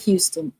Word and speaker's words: Huston: to do it tillison say it like Houston oh okay Houston tillison got it so HT Houston tillison um it's Houston without the O Houston tillison offers a